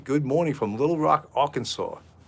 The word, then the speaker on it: Arkansas: morning from little rock arkansas did i say it right i didn't say sauce i said arkansas you know i know